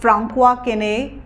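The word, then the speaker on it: François Quesnay: और इसके जो फाउंडर हैं वो हैं फ्रांकुआ केने। So this is French and this is हाउ इट is pronounced.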